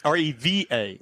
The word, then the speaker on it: Reva: But, we're going to step over here to the Reva. I think that's how you say it. G Whiz. Reva, like as in Reba McEntire? R V R E V A Oh, Reva.